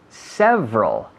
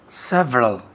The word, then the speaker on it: several: Several. Several. Varios. Several. Several. ¿Xavi? Several. Several. Muy bien. 2 sílabas. Several. Several, no. Several. Several. Con la V, como un F vocalizado. Several.